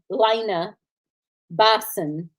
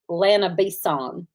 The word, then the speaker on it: Lana Bison: She says Lena Bison, and it's Lana Bison. So just saying, she keeps calling that poor lady Lena Bison, and it's Lana Bison. Well, it is spelled like bison.